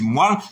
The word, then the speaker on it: moelle: c'est moile que ok la bonne prononciation c'est moile tout comme poil ok poil poil voilà